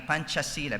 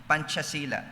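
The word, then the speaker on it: Pancasila: If you're familiar with that, P A N C A S I L A. Panchasila because they pronounce C as CH. Panchasila which is the official state ideology or philosophical foundation of Indonesia.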